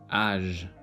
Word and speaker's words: âge: Letter G before E, I, and Y is pronounced as je, givre, âge.